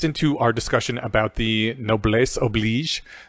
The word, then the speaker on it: noblesse oblige: I think this fits into our discussion about the noblesse oblige. Apparently I was mispronouncing it the whole time, because unlike every other French word with S's, and this one, you actually pronounce the S.